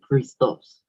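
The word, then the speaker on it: Χριστός: That is how you say it, Christos. It's Greek, so that is pretty interesting.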